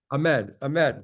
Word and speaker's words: Ahmed: We also have Ahmad, right? Am I pronouncing that correctly? Ahmed. Okay, thank you, Ahmed.